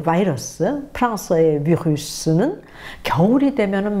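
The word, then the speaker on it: virus: 뭐 영어로도 그렇고 뭐 영국 사람, 미국 사람 다 바이러스 그러는데 워낙은 라틴어, 독이라는 뜻의 비루스에서 온 말이 바로 바이러스인데요. 프랑스에서는 비루스, 그렇죠? 그래서 라틴어에 가까운 발음을 그대로 유지하고 있는데요.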